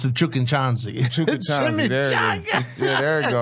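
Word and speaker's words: Chukchansi: Chukinchanzi, there it is. Yeah, there you go. You pronounced That's a great it right.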